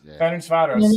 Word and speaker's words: Ferencváros: Is that how we're pronouncing it? But he just played 90 minutes. Ferencváros.